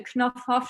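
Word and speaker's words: Knoff-Hoff: And then I think this one is funny because it's called the Knopfhoff show. So it's the know-how show, but it's pronounced in German.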